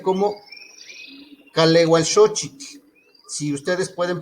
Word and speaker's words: Kalewalxochitl: Lo que yo les decía es que aquí se pronuncia como kaleualxochitl. Si ustedes pueden pronunciar, pueden decirlo así. Calehualxochitl, es junto.